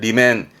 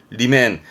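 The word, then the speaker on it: 裏面: 그이면 말하자면 뒤쪽 면이라는 그 이면을 쓰게 죠 발음은 리맨 리맨 우리 뭐 흔히 복사용지의 이면지 할 때 그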